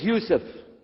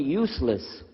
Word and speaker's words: Yusuf: on on it sh my name is Yousef can you say Yousef say Yousef you're very good I wish You' teach my wife she keeps mispronouncing it she calls me useless alhamdulillah now how many